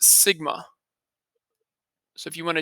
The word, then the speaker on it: sigma: This Greek symbol is pronounced sigma.